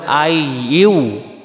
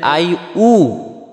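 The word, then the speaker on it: أيها: ইয়া আর এখানে ইয়াটাও এখানে বলতে হবে আই ইউ আই ইউ আর যদি বলি আই উ তাহলে হামজা পেশ উবে ইয়া পেশ হয় ইউ আর আমাদের উচ্চারণ হয়ে যাবে আই উ তাহলে এটা ভুল করবো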